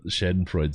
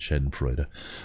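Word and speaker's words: schadenfreude: i also i have this shen freud side of me and i love love sorry to say it right shed and freud i have that side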